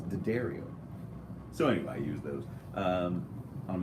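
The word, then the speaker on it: D'Addario: me I know it's it looks like it's D Dario or that's how everyone says it that's actually just da Dario's ' you know did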